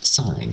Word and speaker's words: sine: going to learn is sign and you pronounce it sign and it's spelled s i n e this is cosine